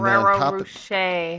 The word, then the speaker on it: Rocher: I'm mispronouncing it, I'm sure. Rocher.